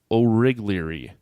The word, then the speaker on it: Origlieri: It is Joe Origlieri.